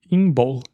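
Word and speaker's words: Imbolc: que é chamado a festividade de como como se escreve inbol é i m de Maria b de bola o l c inbol inbol que quer dizer literalmente na barriga da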